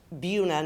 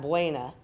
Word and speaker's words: Buena: So this can be seen in names like Cerro Gordo County and Buena Vista, which we pronounce Buna, not Buena, the appropriate way to say it.